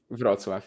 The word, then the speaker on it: Wrocław: Wrocław is the pronunciation.